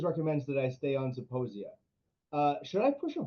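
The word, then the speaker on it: Zeposia: Uh so somebody has been on uh and we already I pronounced this earlier, but it's uh Saposia or is it Saposia? Zaposia.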